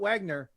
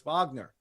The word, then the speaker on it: Wagner: It's not Wagner. It's Wagner.